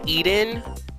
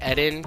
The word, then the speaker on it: Eden: we're in you know I've been calling it Eden but I just heard it pronounced differently by the woman who was just talking she said head in so I think it's actually ed in so I'm going to call it that now you're not going